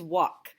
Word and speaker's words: walk: This word is walk. We have another silent letter in here. I don't say walk.